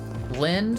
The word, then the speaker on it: Lind: Lind rhymes with wind.